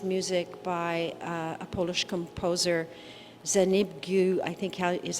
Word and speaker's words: Zbigniew: Well, it's a beautiful, beautiful piece of music by a Polish composer, Zbigniew, I think is how you pronounce his first name, Preisner.